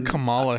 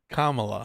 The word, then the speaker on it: Kamala: Why do you call her Camala Harris? Oh, uh sorry, I I do pronounce it wrong. I do. It's Kamola. Sorry. Kamala. How do you pronounce it? Kamala.